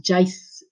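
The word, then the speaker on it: jy's: In this eintlik jy is of jy is, but we read it as jace.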